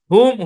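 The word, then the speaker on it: whom: তবে নিচের শব্দগুলোতে W silent থাকবে, এইচ উচ্চারণ হবে। ওই ক্লাসেও কিন্তু চারটা শব্দ দেখাইছিলাম, হু, হুম, হুজ, হোল।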